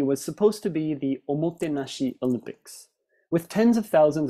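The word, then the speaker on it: おもてなし: for hospitality, gesturing with each slide and each syllable, saying, O mo te na shi.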